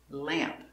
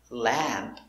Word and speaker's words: lamp: good now something different the short a sound changes before an m or an n when it's one syllable so we have lamp not la lamp but it's a little more closed and it's a little more in your nose it's more nasal let lamp lamp camp